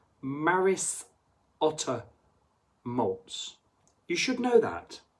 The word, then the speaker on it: Maris Otter: I can even say it's Maris with the S Maris Otter malz you should know